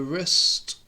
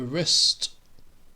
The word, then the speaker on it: wrist: here we have the wrist the wrist you see how it's spelled with a w -r-i-s-t the wrist uh the the hand